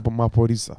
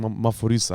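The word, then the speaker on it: Maphorisa: Yeah, DJ Maporisa. Maporisa. Okay. Yeah. I was thinking Maforisa. I was thinking it was the pronunciation.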